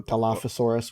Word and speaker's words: Dilophosaurus: Oh, Dilophosaurus, whatever. Well, at least as many times as I've watched the movie, at least that's how they pronounced it. So yeah. Dilophosaurus it is.